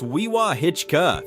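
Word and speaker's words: Wewahitchka: Pronounced Weewaa-Hitchka.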